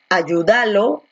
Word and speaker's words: ayúdalo: Tú dices ayúdalo, ayúdalo, ayúdalo o ayúdalo. Tú dices ayúdalo, ¿no? Donde la fuerza de voz está aquí, en you.